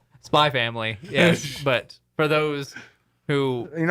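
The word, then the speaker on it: Spy × Family: is pronounced Hunter x Hunter, and it's pronounced Spy Family.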